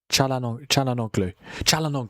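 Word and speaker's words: Çalhanoğlu: Is Chalalonglu. Am I saying it right? It's Hakan Chalalonglu. Chalanoglu.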